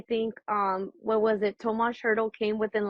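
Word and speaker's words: Tomáš: hurdle how do we say his name Tomas Tomas that's what I thought okay Noah hannahan and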